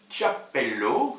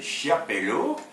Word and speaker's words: Chiapello: luc boltanski et eve alors chap pelo si on prononce à l'italienne sinon c'est chiapello le nouvel esprit du capitalisme